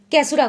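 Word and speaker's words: causerie: ये पॉज break के नाम से कैसुरा को जाना जाता है। ठीक है, बिल्कुल। अच्छा, एक होता है कैसुरा, एक होता है कैसुरी। खैर उसकी स्पेलिंग ऐसी है, उसका प्रोनाउंसिएशन थोड़ा अलग है।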